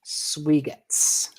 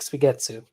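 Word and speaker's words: Suigetsu: It's called Lake Swigetz. Or Lake Swigetsu. And depends on if you want to pronounce the last U or not.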